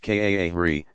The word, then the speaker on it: qari: Excellent, is called a qari, pronounced kaahri, professional Quran reciter.